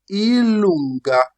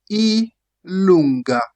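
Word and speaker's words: i lunga: We have J which is pronounced in Italian ilonga. J is pronounced elonga.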